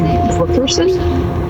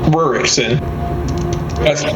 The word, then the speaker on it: Rurikson: Rickerson? Rurikson. Gotta say it like you're saying Murica.